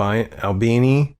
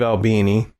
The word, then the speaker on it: Albini: Steve Al Al how do you say ALB Albini yeah Steve Albini to record in Udo seeking a more complex